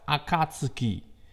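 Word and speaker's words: 暁: What I have on the Spark is actually a Japanese kanji pronounced Akatsuki, also means dawn.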